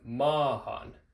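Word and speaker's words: maahan: Or similarly with ma. Ma, it's one syllable and ends in two vowels. Ma. We have mahan, and that vowel is an a, because the last vowel is a.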